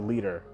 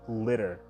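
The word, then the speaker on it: Liter: this is really controversial it's obviously supposed to be a leader like a unit of measurement but they say litter like probably because she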